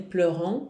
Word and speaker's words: pleurent: Porém, esse ENT não se pronuncia nunca, minha gente. Nunca, certo? Então, pourquoi ils pleurent?